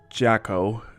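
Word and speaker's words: Jaco: the second time sorry it's j a c o pronounce jacko uh i i think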